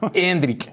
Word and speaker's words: Endrick: se te ha quedado hendri hendri ves vale acento y tilde en la e y acab nosotros que